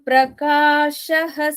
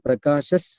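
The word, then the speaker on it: प्रकाशः: Naham prakashah sarvasya yogamaya samavrutaha mudhoyam nabhijanati loko mamajamavyayam. So when you pronounce it, Naham Prakashas Sarvasya, you don't have to say Prakashah separately.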